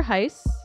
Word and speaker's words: Heisz: book it's written by dr jennifer heiss rhymes with nice spelled h-e-i-s-zed oh we've had her on the podcast before we have that was way back on episode 15. what does dr jennifer hai say about brain and